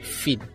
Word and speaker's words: Fienne: Normalement, c'est un prénom néerlandais. Ça s'écrit Fienne, mais ça se lit Finn.